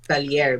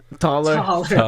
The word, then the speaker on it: Taller: But okay, you can mention that to me as a personal name, Talier. But as an artist, I am begging my followers to pronounce it as Taller.